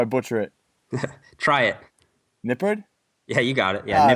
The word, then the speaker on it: Nippard: name bud before I butcher it try it Nipper yeah you got it yeah there we go